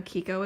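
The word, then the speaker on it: Chicco: We have a Chico, what is it? I know Kiko is the right way to say that, but I always say Chico still.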